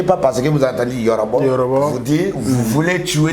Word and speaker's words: Yorobo: Il s'appelle Yorobo, Y-O-R-O-B-O. Moi, c'est les. Lui, c'est B-O. Moi, les, c'est beauté. B-E-A-U. Il faut bien comprendre. Donc, quand vous voyez Yorobo, non, ça, quand vous prononcez là, ça sonne Yorobo.